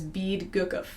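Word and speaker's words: BEADGCF: So the order of fourths, you can spell this word B, E, A, D, G, C, F. So if you try to pronounce that, it's bead gukov.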